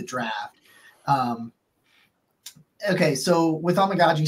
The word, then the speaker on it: Amegadjie: to say his name you just need to make sure you're saying you're essentially saying like oh my God G like amagi that's how you say yeah um anyway uh